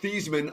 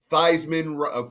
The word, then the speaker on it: Theismann: And of course, you know why his name was pronounced Thiesman until the Theismann for Heisman campaign, and he literally changed the pronunciation of it.